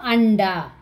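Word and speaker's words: अंडा: Is it Ta, Tata, Dada, Na pronunciation, Na. So Anda.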